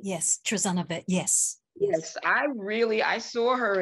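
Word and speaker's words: Trazana: How does she pronounce her first name? Yes, Trezana, yes.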